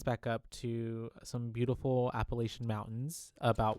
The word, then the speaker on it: Appalachian: So Appalachian is how they say it here, Uh-huh. but in the Appalachian Mountains, we Appalachian. would say Appalachian.